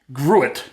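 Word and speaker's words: gruit: and finally we have grew it all right i'm going to pronounce it grew it g-r-u-i-t long before hops caught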